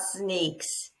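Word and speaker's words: Zneex: do you pronounce it it's called sneaks so with that Z sneaks like the shoes sort of like that yeah all right now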